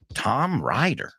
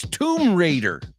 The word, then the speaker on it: Tomb Raider: Well, because you don't know how many times I've heard Tom Ryder. Tom Ryder? Who the f is Tom Ryder? It's Tomb Raider. Tomb Raider. So not Tom Ryder. So claro, Según esa lógica, raid se pronuncia ride.